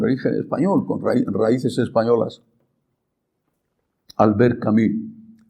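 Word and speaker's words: Albert Camus: Alber Camí se escribe camus.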